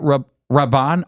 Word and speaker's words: Rabban: of the 2nd century, where Rabban, is that how you say it? Rabban, R-A-B-B-A-N? Yeah.